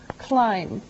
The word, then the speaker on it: climb: first verb is climb climb now it doesn't sound like it looks now if this letter B is silent climb okay we climb